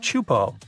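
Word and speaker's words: Teahupoʻo: It's pronounced Chupo, and it means broken skulls in Tahesian.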